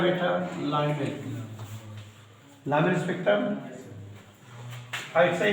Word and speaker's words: Lyman: Number 1, लाइमन series, हम spelling बोलेंगे LYMAN, लाइमन series.